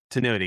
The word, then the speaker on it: Tinuity: Tinuity. Tenuity. Yeah. Like continuity, but without Yes.